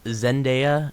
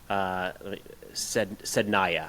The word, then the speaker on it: Sednaya: Zendaya? Not Zendaya. Zendaya. How do you say it? Sednaya.